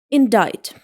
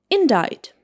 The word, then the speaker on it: indict: It should be pronounced like indict indict.